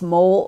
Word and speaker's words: MOL: Orbiting or Orbital Laboratory, also known as MOL, pronounced mole or mall, depending upon which part of the country you come from.